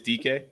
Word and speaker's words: DK: And he's not Dyke, he's DK. But still, I'm gonna say Dyke because that's how that's what I don't see the after the U um but I'm gonna say way pronounce it is DK.